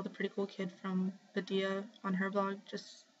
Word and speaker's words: Adelia: Oh, I think she just sent me a message because I didn't know how to pronounce her name. So hang on. Yeah, okay, I was right. Her name is Adia, and her URL is simply Adia.